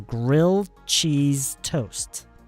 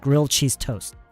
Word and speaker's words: grilled cheese toast: So, when you say this, you don't pron you don't pronounce the D and you don't pronounce the last T. So, grilled cheese toast or just grilled cheese toast.